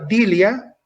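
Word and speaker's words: δειλία: es biblia y elegía pero se pronuncia dilia que significa cobardía timidez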